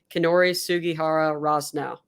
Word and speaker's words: Kinori Sugihara Rosnow: I'd like to introduce and I hope I'm pronouncing your name correctly kinori sugihara Ross now yes hi nice so kenori and I for